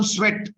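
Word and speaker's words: Tswett: Discover करने वाले scientist का नाम स्वेट, टी साइलेंट रहता है, आप नोट कर सकते हैं, स्वेट, टी साइलेंट है।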